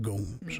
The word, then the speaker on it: Gomes: he sit there go my name is Mr Gomes and it rhymes with holes I'm like oh this